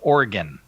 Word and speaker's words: Oregon: Father, it is pronounced Oregon.